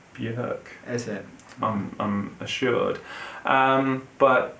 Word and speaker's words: Björk: I'm pronouncing Bjork wrong. Apparently, it's Björk.